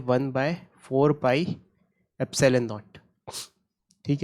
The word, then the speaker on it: epsilon: इसको कैसे प्रोनाउंस कर रहा हूँ मैं, एप्सिलॉन, एप्सिलॉन ग्रीक लेटर है ये।